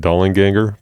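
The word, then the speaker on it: Dollanganger: I think you pronounce it Dollinganger, by the way, because there's two angs.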